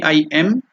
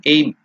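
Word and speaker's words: ऐं: have written the pronunciation it is not a i m it should be i m i elongated M the nasal one so so that is the pronunciation correct pronunciation A or I'm you should not tell aim it is because it is written in English as a I generally the people who do not know Sanskrit will pronounce it as a I am aim it's not aim the aim is something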